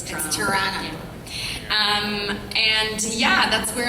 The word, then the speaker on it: Toronto: of Toronto Tor T say it like a real Canadian not Toronto it's Toronto um and yeah that's